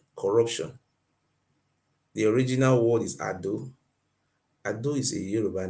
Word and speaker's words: Edo: Edo, the right pronunciation is called Ado. A-D-O. Ado is not Edo.